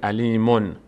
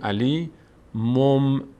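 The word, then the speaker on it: عليم: تبدیل شده به میم اینو ما چطور می‌خونیم نمیگیم دیگه علیمون میگیم علی مم مم ببینی مم علیم بی علیم بیما این میم تلفظ میشه اینجا این میم همون نون تنوین که تبدیل شده به مم به خاطر راحتی تلفظ و نزدیکی مخرج میم و ب خب این همون قاعده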